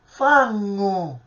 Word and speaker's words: fangu: questa, è un conto, ma se questo nesso lo dobbiamo pronunciare in siciliano, noi scriveremo fangu, ma la pronuncia non è come l'italiano, ma è una pronuncia gutturale. Che cosa significa gutturale? È una pronuncia il cui suono viene direttamente dalla gola, quindi la pronuncia non è fangu come nell'italiano, ma la pronuncia è fangu, vedete?